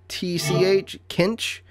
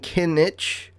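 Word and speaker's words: Kintch: Like Kinch. It's K-I-N-T-C-H. Kinch. I was saying Kinich.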